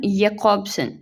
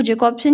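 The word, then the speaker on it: Jakobson: Basically क्योंकि Roman जैकॉब्सन जो हैं, इनकी सही प्रोनाउंसिएशन है रोमन यैकॉब्सन, लेकिन यहाँ पे हम इसको जैकॉब्सन ही प्रोनाउंस करेंगे।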